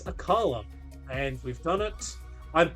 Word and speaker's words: Akala: And that is the uh kahuna of Aola. Akala. Aa. I'd love an AA right now. I would love Ola right now. But it's Akala.